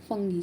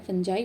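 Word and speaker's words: fungi: ये केमिकल्स हमारी क्रॉप को प्रोटेक्ट करते हैं फंगी से, ठीक है। जब हमारे पास फंगी लग जाती है, फंजाई बोल सकते हैं आप इसको, प्रोनाउंसिएशन आपके अकॉर्डिंग आप कर सकते हैं।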